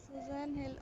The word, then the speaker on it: Susan Hill: हाँ, यस यस, Pronunciation of the author's name. Writers name सुजैन हिल, Susan Hill. Okay. Hindi वाला हिल, हिल.